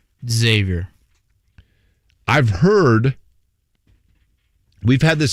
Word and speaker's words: Xavier: You pronounce that school how? Xavier.